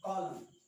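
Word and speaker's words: column: तो जब जब एम के बाद एन आता है तो उस स्थिति में जो हमारा कौन है, एन है, वो क्या होता है, साइलेंट।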